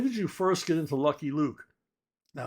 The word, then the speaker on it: Lucky Luke: When did you first get into Lucky Luke? Now, I was recently corrected by my good friend Jean-Francois Cavalier that it's pronounced Lukey Luke.